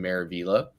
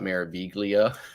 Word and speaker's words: Maravilla: for the longest time I had a real hard time pronouncing Maravilla right and I always wanted to call it mayor viglia so but I finally got it down okay and uh embarkation